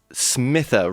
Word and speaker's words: Smitha: good evening um let me just correct my pronunciation of my last name it's smithla smither right i do apologize elaine smith that's right